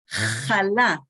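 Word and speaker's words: חלה: When every Shabbat we buy a challah, you guys, we pronounce the het like the European Jews did, and most of Israel today, challah, but we write it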